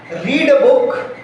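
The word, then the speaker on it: read: यही एग्जैक्ट लिखा जाएगा, लेकिन बोलने में इसका प्रोनाउंसिएशन अलग हो जाएगा। क्या प्रोनाउंसिएशन होगा? आई रीड अ बुक, मैं एक किताब पढ़ता हूँ।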